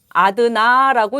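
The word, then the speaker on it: одна: 여성일 때 여성일 때는 아드나라고 읽습니다.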